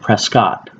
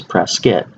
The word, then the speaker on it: Prescott: to pronounce it is press kit and my father once told me of saying he said that there are no Scots in Prescott and had three that